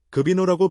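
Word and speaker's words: ღვინო: 급인노라고 발음되는 와인을 뜻하는 조지아 단어는 영어 단어 와인과 어원을 공유하며 일부 사람들은 곡선 형태의 조지아 알파베디 포도나무 덩굴에서 영감을 받았다고 믿습니다.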